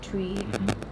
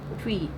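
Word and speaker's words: Twi: is so well connected and similar to the tree. Is that how it's pronounced? Tree. P. Yeah. P. T. I can't even say it properly. T. Twee.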